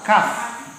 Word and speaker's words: calf: Tulisnya Saf. Bacanya L jangan disebut, C dibaca K. Kaf.